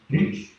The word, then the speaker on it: gauge: We call it a measuring gauge, and it's gauge. Measuring gauge. Yeah. Gauge. Yeah. Okay. And I've always pronounced that wrong there.